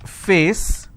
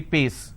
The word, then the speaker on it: face: example if i have a word which is face they replace that and say paste now face is different